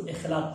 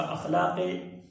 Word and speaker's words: اخلاق: ایک ہے اخلاق، عموماً ہم اس کو اخلاق پڑھتے ہیں، اخلاق غلط ہے، صحیح تلفظ کیا ہے؟ اخلاق، بلند اخلاق.